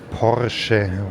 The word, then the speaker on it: Porsche: Porsche. Porsche. when you pronounce it in German.